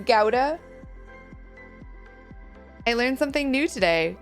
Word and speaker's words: Gouda: Who pronounces Gouda as Gouda? Like it's gooey. And who pronounces it Gouda?